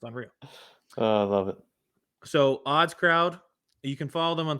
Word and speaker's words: OddsCrowd: So OddsCrowd, you can follow them on Twitter as well. It's just as the word says, phonetically, ODDSCROWD, OddsCrowd.